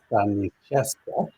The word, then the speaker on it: Staniszewska: Stani means to stand, and I'm used to that. Um, and and so I keep thinking that that's the way that I'm going to pronounce it.